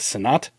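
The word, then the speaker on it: Sinnott: But I'm white, and I read that as Senat.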